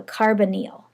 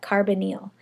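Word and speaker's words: carbonyl: contain this type of a bond called a carbonal okay that's how you pronounce that carbonal it's a carbon double bonded to an oxygen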